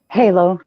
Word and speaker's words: Halo: Is it pronounced Halo or Hollow? Halo, like the game.